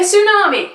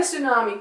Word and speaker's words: tsunami: would probably be a tsunami Omega tsunami and there are various different reasons for Mega Studio wise tsunamis not spelled like it looks not said how you just sort of said it just then Elise no anyway tsunami